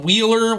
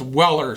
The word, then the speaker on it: Weller: think I called them wheeler when we did our walk around at Home Depot I think it's pronounced Weller so I apologize for